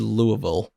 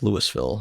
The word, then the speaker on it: Louisville: that ain't kentucky okay at least you said louisville and not lewisville or louisville my uh my roommate is from louisville okay that's how you know how to say it correctly in college that's how